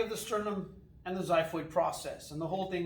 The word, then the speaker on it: xiphoid: tip that sticks down there is called the xiphoid process. It's spelled X-I-P-H-O-I-D.